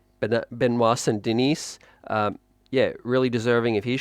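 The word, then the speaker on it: Benoît Saint-Denis: Now, the other one that you said, the aforementioned Poirier, um, Saint, sorry, how do I pronounce it again? Benoit Saint-Denis. Benoit Saint-Denis.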